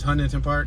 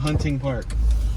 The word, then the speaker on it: Hunting Park: and it's really called hunting park or hunting yeah it's hunting like if you're hunting for fish or you're hunting